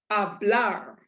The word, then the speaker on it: hablar: gives you the clue if this last letter is not one of these seven then the stress falls on your last syllable so to pronounce this word it would be hablar a blar a blur with an emphasis on that blur that's how it's